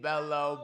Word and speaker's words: Bellow: Bellow. Bellow, spelled like hello but with a B.